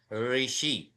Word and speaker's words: ऋषि: ऋषि ये शब्द होता है, वो र जो है वो स्वर है, ऋषि। और उसका उच्चारण कैसे करेंगे? ऋषि, इस प्रकार से होता है।